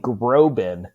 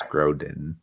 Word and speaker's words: Grodin: cute movie and uh you keep saying Groban and it keeps throwing me off I say Groban you've said sorry it's okay I mispronounced it I know it's Charles Grodin well I've been I'm